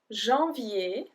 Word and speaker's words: janvier: So we have janvier, janvier. So I-E-R-I-E, I-E, janvier. Février, février. Mars, mars. Avril, avril. Mai, mai. So here the end of the word mai is exactly the same sound as janvier. So ER ou AI make